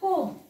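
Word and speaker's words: comb: त्याला thumb right next इथे पण बघा कोम कोम कंगवा ज्याने आपण विंचरतो कोम सो हा असणार आहे को म ब वापरायचा नाही क्लाईम क्लाइंब क्ला इ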